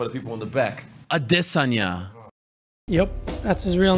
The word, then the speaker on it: Adesanya: the lifestyle Bender I just had this Sonia adesanya you don't know say it one more time for the people in the back adesanya yup that's his real name yes my pronunciation